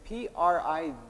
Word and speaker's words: Privet: There's a character whose name is P-R-I-V-E-T, which if you study Russian, one of the ways to say hello is privet, which is, that's how it's spelt. But of course, the character's name was pronounced Privet, because she didn't know that. And so it was like she named a character Hello, but kind of mispronounced Hello.